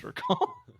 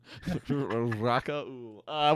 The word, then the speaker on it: Rakaul: to this on audio, Rakal is spelled Rakaul. Correct. So, Rakal. Yep. Yeah, I was like, oh, hey Joe, like, what's your handle? Rakaul? He's like, it's Rakal. Rakaul.